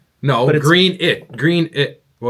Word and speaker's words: Greenwich: It's spelled green. Green witch. No, green it.